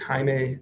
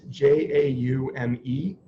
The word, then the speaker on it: Jaume: It's called I pronounce it Jaime Serra. It's Jaume.